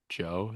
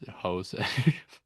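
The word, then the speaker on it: José: No, but I I think is just cuz his name is not pronounced Joe. It's Jose, I guess.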